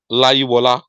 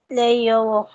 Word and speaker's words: Leyowo: Laiwola. Sorry, Leiyowo. Sir? I said explain. Please, is this your name? Leiyowo. Yes, sir. But that's not the pronunciation. What's the pronunciation, please? Leyowo.